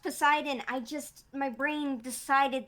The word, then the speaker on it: Poseidon: what did you say did you say poisodon i can't pronounce words are you referring to poseidon sorry i had no